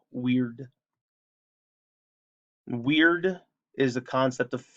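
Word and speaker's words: wyrd: It's pronounced weird. W-Y-R-D, weird.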